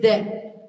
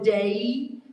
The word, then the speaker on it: de: can't, especially us Midwesterners, we can't add a diphthong like today. So it's just de. It's just one syllable. It doesn't go to day, how we close in a lot of words like say. That doesn't happen in Spanish. So just be careful that it goes just de.